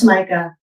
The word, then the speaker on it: jamaica: They're spelled Jamaica, pronounced Jamaica, rhymes with Formica.